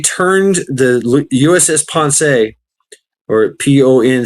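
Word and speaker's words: Ponce: What they did is they turned the USS Pon or P O N C uh the pronounced Pon.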